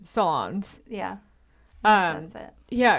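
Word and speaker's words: Solondz: Solons.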